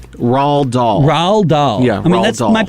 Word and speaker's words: Roald Dahl: by R.L Stein okay how do you say this person's name Roald Dahl Rawl doll yeah I mean that